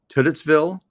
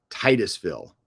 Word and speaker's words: Titusville: uh how do you pronounce that is it titsville Titusville I can't pronounce things for yes like I um especially especially when you're like I gotta pay this guy um Titusville oh they're okay Titus bill okay all right